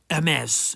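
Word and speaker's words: Hermès: a good few times not hermes it's not a delivery parcel company it's a french word a mess you don't have to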